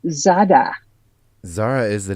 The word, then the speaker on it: Zara: It's pronounced Zada.